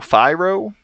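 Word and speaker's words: Firo: by kite that's k-a-i-g-h-t very interesting and Pharaoh phiro spelled f-i-r-o those are the two people that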